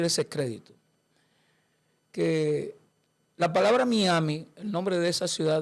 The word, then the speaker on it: Miami: crédito que la palabra Miami, el nombre de esa ciudad del estado de Florida, esa palabra por su origen es Miami. Como los gringos no saben decir Miami, dicen Miami. Miami.